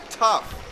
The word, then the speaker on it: tough: my point this word this word is actually pronounced tough as then it's been a tough day it's been a difficult day so what's